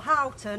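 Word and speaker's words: Houghton: so both St John Horton or hton as his name should be pronounced uh John Harton and Robert Lawrence would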